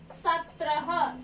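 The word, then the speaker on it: सत्रह: But we call this number in Hindi as Satrah.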